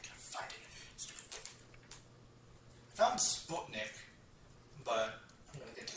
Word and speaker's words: Sputnik: It's pronounced Sputnik. It's Sputnik. But I know No, it's Sputnik. As a European, you're offending me with your American pronunciation.